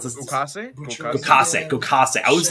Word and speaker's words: Gokase: Anyone want to pronounce this? Gokase.